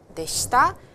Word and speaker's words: でした: でした。And ではありません is from here, of course, negative, and past is でした。So this negative ではありません, past でした, and past negative is ではありませんでした.